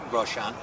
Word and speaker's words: Grosjean: I like Grosjean.